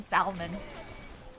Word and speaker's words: salmon: But I've always said it's salmon, but you're not supposed to pronounce the L.